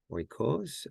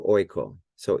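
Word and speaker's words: οἶκος: I think it's, let's see, oikos. I think it's, oh no, I think it's yeah, it's on the first syllable, right?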